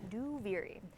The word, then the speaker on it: Duviri: Duviri out loud is that's how you pronounce it, by the way. Duviri.